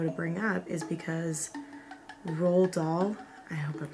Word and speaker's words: Roald: I always want to say it's like Roland, but it's not.